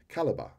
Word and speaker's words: Calibre: Calibre.